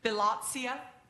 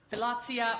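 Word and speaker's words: philautia: I had to look up how to pronounce it. Philotia. Philotia or self-love, which the ancient Greeks saw as necessary.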